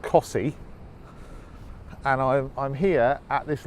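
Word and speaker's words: Costessey: T e SS e Y which obviously is pronounced kasi and I'm here at this lighthouse and beach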